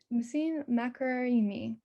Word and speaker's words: Nasim Makaremi: Nasim Makaremi, sorry about that. Nasim, am I saying that right? Is that how you say it? Yes, you say good, Makaremi.